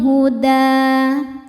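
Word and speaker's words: الهدى: Rabbihimul huda. Da hukumnya mad tabi'i muqaddar karena dal berharokat fathah panjang. Cara bacanya panjang 2 harokat.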